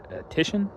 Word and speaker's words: Titian: Um, in English his name would actually be pronounced Tishan, but uh he was Italian.